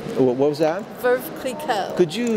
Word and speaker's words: Veuve Clicquot: Veuve Clicquot. What was that? Veuve Clicquot. Could you spell that, please?